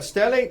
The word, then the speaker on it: stellate: head and you refer to it as a stellate laceration. Is that right? Yes. And am I pronouncing that right?